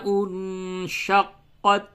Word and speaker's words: انشقت: دیتے ہیں۔ تو اس چیز کا دھیان رکھیں کہ تا میں بالکل ہی آواز کے اندر ٹکراؤ پیدا نہ ہو، بلکہ یوں پڑھیں گے۔ پھر سے سماعت فرمائیں، اذا السماء انشقت، اور اس کا ہجے